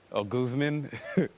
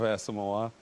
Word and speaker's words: Asomugha: one that I got somebody call me um o Guzman instead of asima you know like what